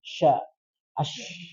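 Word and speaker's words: شاء: Dan sya itu tafashi, sya, ash. Jangan as, tapi disebarkan ash.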